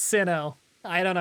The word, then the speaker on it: Sinnoh: It's Sinnoh.